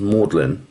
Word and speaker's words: Magdalen: under the college called mlin College it's actually pronounced mlin in Oxford but it's written Magdalene it apparently